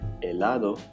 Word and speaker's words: helado: Helado, remember it is silent.